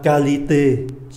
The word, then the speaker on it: qualité: QU cũng đọc là cờ luôn. La banque, giống như là C, banque. La qualité, chất lượng.